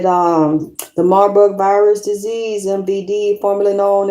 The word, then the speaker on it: Marburg: I said Marduk is Marburg. Marburg virus. They said the Marburg virus disease, MVD, formerly known as the Marburg hemorrhagic fever.